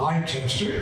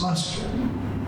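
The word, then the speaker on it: Leicester: you pronounce them well it's not Lester it's luster it's not C it's cows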